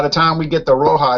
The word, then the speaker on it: Roja: I'm not exactly sure how you pronounce that. Roja? Roja. Roma? Roja. Roma. Roja. Roja. Roja. Yeah. Like red. Means like reddish, you know, like reddish. A reddish beer.